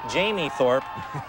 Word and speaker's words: Jamie Thorpe: Mispronounced his name last week, but we know the Wilson High quarterback is Jamie Thorpe to Tyler Elliott, and Wilson crushed Jefferson.